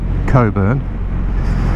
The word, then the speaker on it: Cockburn: We're going to pronounce it the polite way, Cockburn, spelt C-O-C-K-B-U-R-N.